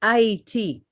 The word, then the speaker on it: Ayiti: Because Ayiti, they changed the name to Haiti for a reason, but it's pronounced Ayiti.